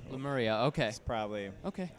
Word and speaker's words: Lemuria: pronounce it but the way that we all pronounce it is lemuria lemuria okay probably okay it's not as nice lemurian